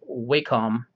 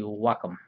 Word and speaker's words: Wacom: a wacom cintiq now a lot of people pronounce it as wacom but it's actually wacom um let's see if i can do this